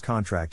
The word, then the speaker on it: contract: Phonetic Alphabet to pronounce contract have in mind that the size of the syllable indicates where the accent or stress is in this case the accent is in the second syllable corresponding to tract verb low are other